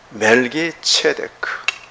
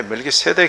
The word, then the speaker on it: 멜기세덱: 멜기체덱. 멜렉이라는 단어인데 멜렉은 왕이에요. 왕. 의의 왕이에요. 멜기체덱. 체덱이에요. 체덱. 그러니까 이게 우리말로 이렇게 기록하는 그 발음이 오히려 멜기체덱하지. 근데 멜기세덱 해놓으니까 자꾸 세덱인 줄 알아.